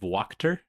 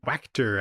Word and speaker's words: Wachter: We read Eisner nominated Uncanny Valley by Tony Fleeks and Dave Walker. I believe that's how you say his name. Wctor, actually.